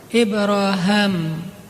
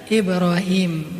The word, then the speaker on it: Ibrahim: Salah satu yang terkenal yang mengucapkan kalimat ini lebih dulu daripada Rasulullah adalah Ibraham. Kalau dalam salah satu qiraat itu bacanya Ibra Ibraham. Makanya orang Inggris nyebutnya Abraham atau bisa juga dibaca Ibrahim.